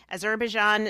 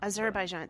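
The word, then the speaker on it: Azerbaijan: Oh my gosh, I always butcher the the name. Aerbian uh to Thailer. Yeah, Azerbaian. Thank you.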